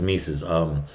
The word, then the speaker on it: Mesus: And I pronounced his name wrong. His name is Mesus.